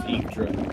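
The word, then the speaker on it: Yggdra: I would assume that's pronounced Igdra.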